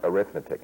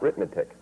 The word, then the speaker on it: arithmetic: and proper pronunciation too so that is arithmetic not arithmetic so so what do you